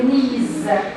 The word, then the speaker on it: knees: So they've got problems in their knees. What do you notice? How do you spell knees, please? And how do you spell it? K? Good. Do we pronounce the K? No. We call it silent. Silent letter.